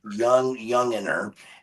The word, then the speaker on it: Youngener: And that is how you pronounce his name, Mike Youngener, and super great guy.